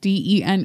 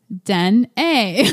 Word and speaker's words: Dené: name it says says your name de neige de an e but in parentheses I have pronounce den a would be a bass I've been Dean Deni like so if it works yeah so the